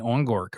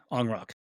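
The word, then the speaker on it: Ongrok: And so what I think about is, imagine, you know, especially again with that company Ongork, or I think that's how you say it, right, James? Onrock. Man, I'm way off.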